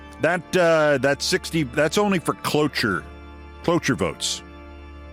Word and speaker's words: cloture: That 60, that's only for cloture votes. No, not cloak, not closure. C-L-O-T-U-R-E. Should I spell it for you?